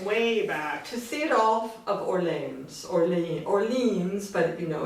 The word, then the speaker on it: Orleans: And I'm not pronouncing it the French way, I'm just saying Orleans.